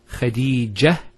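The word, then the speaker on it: خديجة: If we stop at the ta, Khadija, it's a ha.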